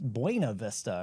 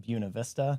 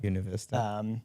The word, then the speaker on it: Buena Vista: And I guess like as you look at the sign on the interstate, you would say, oh, that's Buena Vista, or it's pronounced Buena Vista. Buena Vista.